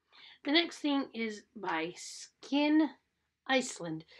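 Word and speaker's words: SKYN: The next thing is by Skin Iceland. Skin is spelled S-K-Y-N Iceland.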